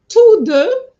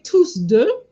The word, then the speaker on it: tous deux: Tous deux, I didn't say tous deux, but two here, even though the S is not pronounced, you need to remember it's an S at the end here. Tous deux.